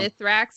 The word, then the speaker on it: Mithrax: I keep being told I pronounce it wrong. Mithrax and Misrax.